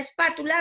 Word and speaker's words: espátula: En este caso, la palabra espátula recae en la sílaba pa, que está con la flechita rojo.